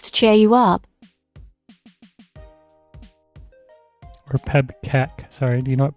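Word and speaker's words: PEBKAC: Now, do you know what pebbac is? It's spelled P E B K A C.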